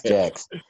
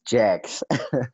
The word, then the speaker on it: Jaxe: So we out here with Kwesta and Jaxe. Is it Jaxe or Jaxe? Do you? Because your name is confusing to pronounce, like Jamison or Jameson. It's Jaxe. It's Jaxe.